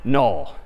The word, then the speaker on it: NUL: And this character is, again, sort of pronounced null, or written N-U-L.